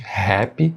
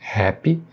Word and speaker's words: happy: E na palavra happy, mais uma vez, som de H no início, também com aspiração, né? Não é o som do nosso R forte. Happy, happy. Portanto, fica happy, happy.